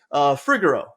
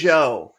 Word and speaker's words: Fregeau: So it's Jackson Fregeau. Am I right when I say that? Fregeau, close. Fregeau.